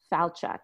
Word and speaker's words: Falchuk: despite the why and my first name it's pronounced just like and I so it's Brian and my last name is FAL Chuck Falchuk and you're in Boston right I'm in the